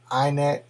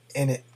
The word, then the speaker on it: init: over a command in terminal which is the inet or in it command depending on how you like to pronounce it so let's go ahead and uh